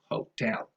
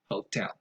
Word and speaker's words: hotel: mispronounced, is the word hotel. Stress goes on the second syllable and probably never on the first syllable. Hotel, hotel. As an additional little something,